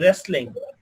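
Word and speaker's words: wrestling: যেমন রেসলিং, রেসলিং। তাহলে ডাব্লিউ এর পরে যদি আর হয়, কি হয়? আর হয় বা এইচ হয়, তাহলে ডাব্লিউ এর উচ্চারণটা হয় না।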